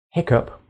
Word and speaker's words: hiccup: with butter and eight hiccup which rhymes with pick up perhaps the most famous